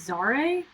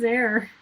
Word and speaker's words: Zare: zaire's name was there I thought it was zare and so like in my head I've been pronouncing it Zara leonis for years and then to like actually watch the episode again and then they're like oh yeah it's there and I'm like pardon yeah I was like sorry no his name is there you sync with the